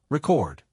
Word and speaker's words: record: For example, in the word record, the noun is stressed on the first syllable are e chord while the verb is stressed on the second syllable record.